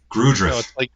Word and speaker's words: Grudrith: Grudrith. No, it's a soft G. It's like Judith.